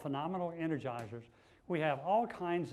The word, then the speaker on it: FUNomenal: under phenomenal its assists sounds the same as phenomenal but it's the first three letters spell fun so it's phenomenal that's how you pronounce it we have it's called phenomenal Energizer's we have all